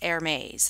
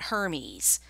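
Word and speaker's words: Hermès: it from this group and yes it is pronounced Hermes not Hermes so you want to sound like an educated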